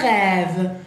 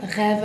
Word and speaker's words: rêve: Después tenemos un rêve, un rêve, rêve, ahí tenemos el acento circunflex, casita, a la re, rêve, y la R que ya la vamos a practicar, rêve. Entonces termina en E, bien, no acentúa, rêve, y el acento dijimos